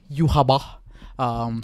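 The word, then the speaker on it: Yhwach: how to say his name correctly it's called Yaba from Bleach yep uh Gojo top right from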